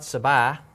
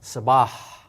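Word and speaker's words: صباح: So this is not sabah, but sabah, and that H has to be heard.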